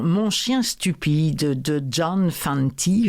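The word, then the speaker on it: Fante: chien stupide de John Fanty je pense que ça se prononce comme ça F a n T e c'est lu en français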